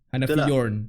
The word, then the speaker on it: Hanafi Yorn: Yeah, dan bersama Hadri kita ada Hanafi Yorn. Yes. What's up yo? Betul lah aku pronounce name kau? Hanafi Yorn.